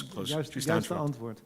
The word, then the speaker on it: Juiste Antwoord: later years for the Juist Antwoord, Just Answer? Did I pronounce it? Yes. Close. Juiste antwoord.